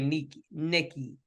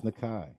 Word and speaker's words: Nkeichi: ain't supposed to say Nikki. It's spelled Nkeichi. I'm gonna fuck her up because that sounds like that's supposed to say Nikki. It's Nakai.